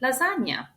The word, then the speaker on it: lasagna: G combined with N is you can find it in words like lasagna. or if you hear someone calling them gi that's wrong. Lasagna. Next is the C sound ch in words like bruseta.